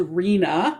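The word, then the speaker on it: RHNA: needs allocation process or also known as rena that's how it's pronounced which involves three levels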